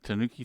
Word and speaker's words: Tanuki: Tanuki with a U only barely pronounced like I do it.